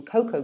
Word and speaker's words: cocoa: um the dark brown powder that's made from cocoa beans or a tree tropical tree or it